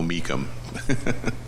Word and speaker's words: Meacham: And now I obviously know I said his name wrong, so we'll go Meacham.